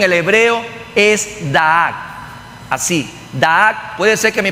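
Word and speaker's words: דעת: La palabra conocimiento en el hebreo es da'ak, así, da'ak. Puede ser que mi pronunciación no esté tan así regularizada, la pronunciación hebrea, pero es como usted lo está escuchando: da'ak, da'ak.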